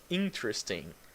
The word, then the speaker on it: interesting: Oh, another word with the ing in the end that you don't pronounce the G. You say the n. Okay, so interesting.